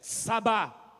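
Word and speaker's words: צבא: Começa com T, mas a pronúncia é essa, sabá.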